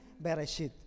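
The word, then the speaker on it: בראשית: torá se escribe así y se pronuncia así bereshit es así que significa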